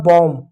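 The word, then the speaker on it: bomb: यहां देखो बी को बी ओ एम बी बी को बी पढ़ेंगे ओ को औ पढ़ेंगे एम को म पढ़ेंगे होगा बम बी साइलेंट हो बम बम बम नहीं बम अगला शब्द देखिएगा क्या है?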